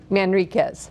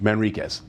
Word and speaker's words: Manriquez: Pronounce the last name, doctor. Manriquez. Manriquez.